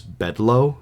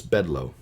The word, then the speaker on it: Bedloe: So there's a main character named Augustus Bedloe, and his name is spelled Bedloe.